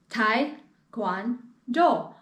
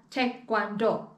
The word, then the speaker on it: Taekwondo: so what is taekwondo some people pronounce it as tai guan do or te guando for example there are three syllables in taekwondo three syllables right i hope i can